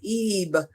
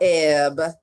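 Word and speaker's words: אב: You pronounce the word Eve and not Eb. So the long E and then B, and then it's the Aramaic word meaning fruit.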